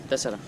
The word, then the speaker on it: τέσσερα: How do you say 4 in Greek? Τέσσερα. Τέσσερα. Tessera. Τέσσερα, yeah.